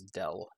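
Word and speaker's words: nabla: have this guy we have nablo uh also sometimes pronounced as Dell okay and while this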